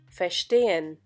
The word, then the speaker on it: verstehen: In the case of untrennbare Verben, the stress is not on the prefix, verstehen.